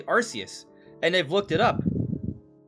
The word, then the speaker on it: Arceus: I remember when Legends Arceus came out, there was debate on how do you pronounce the name.